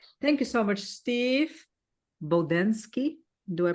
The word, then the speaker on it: Bodansky: Oh, they may sound more like how you pronounced it, but I pronounce it Bodansky.